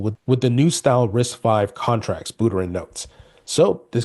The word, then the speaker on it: RISC-V: So, adopting RIC-V pronounced risk 5. Okay, risk 5, that's what it's how it's pronounced.